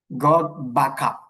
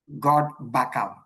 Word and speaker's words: Gotbackup: It's Gotbackup. Gotbackup.